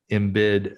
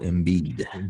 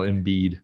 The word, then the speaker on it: Embiid: more of a joel in bid episode night of ben simmons episode um anyway did i say his last name right no how do you say it joel embiid joel embiid yes anyway so uh the